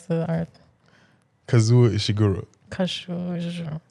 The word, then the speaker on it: Kazuo: Kazuo Ishiguro. Kashu. You gotta say Kashu Ishiguro. Okay.